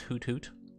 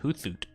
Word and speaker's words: Hoothoot: looking weirdo donkey booth i know it's hutut you don't have to correct me but uh have you ever looked at his name and realized hey that should probably be pronounced hoothoot if they wanted to be hoot hoot they should have put like a hyphen between the hoots this is a